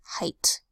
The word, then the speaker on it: height: so says next word height usually e IG H makes a long a sound except height what makes a long I sound I height then usually the double